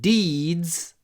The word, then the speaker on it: deeds: You can read about his heroic deeds in this book. Make sure you pronounce it with a good y.